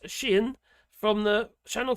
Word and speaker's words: Xi'an: I learned it was called pronounced Xi'an from the Channel 4 documentary.